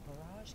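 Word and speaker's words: borage: and it is known it rhymes with the word courage so barrage can give you courage it's a relative of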